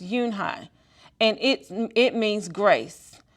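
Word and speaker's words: Unhei: turned to joey he nodded slowly yes it's pronounced yunhai and it it means grace mr kim added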